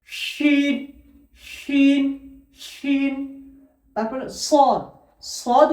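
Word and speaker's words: شين: শিন উচ্চারণ হয় জিভের মতো, অর্থাৎ জিভের মাঝখান এবং তার সোজাসুজি ওপরের তালুর সাথে লেগে শিন শিন শিন।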